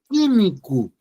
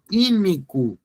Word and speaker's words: químico: colocar aqui na palavra químico você pronuncia assim olha você não pronuncia o u você pronuncia assim ó